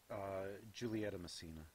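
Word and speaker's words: Giulietta Masina: Played by, how do you pronounce her name? Giulietta Messina.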